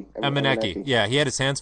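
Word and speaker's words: Emenike: How do you pronounce that guy? Meineke? Emeneki.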